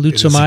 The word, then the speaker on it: Leishmania: Leishmania? It is exactly how you Leishmania. Say it. It's a perfect pronunciation, Vincent.